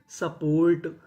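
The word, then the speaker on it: support: तो मीनिंग बनी सपोर्ट।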